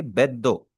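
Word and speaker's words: ベッド: बोरो किया गया है, बेड को हम जापानीज में क्या बोलेंगे? बेड दो। बेड दो हम बोलेंगे जापानीज में बेड को।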